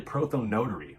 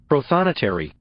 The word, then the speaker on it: prothonotary: the entire 1780s he was something called a prothome notary or profanitary you know what let's see how that's supposed to be pronounced prothonotary notary not helpful at any rate today we